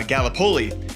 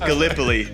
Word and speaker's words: Gallipoli: right because being from Iowa I said uh Galipoli and it's it is pronounced Gallipoli.